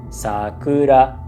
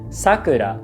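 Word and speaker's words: さくら: So, she mispronounced Sakura, which has a low high high pitch pattern. Sakura. She said Sakura, which sounds like somebody's name.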